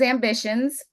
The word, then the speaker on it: Ambicionz: Yes, so it is Ambitions, and I'll spell that. It's with a Latin twist.